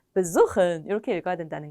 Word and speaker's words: besuchen: 동사 원형을 읽으실 때도 aufstehen 이렇게 읽게 되는데 비분리 동사는 비분리 전철의 강세를 갖지 못해서 두 번째 음절에 보통 강세가 가게 됩니다. 그래서 besuchen이 아니라 besuchen 이렇게 읽어주셔야 됩니다.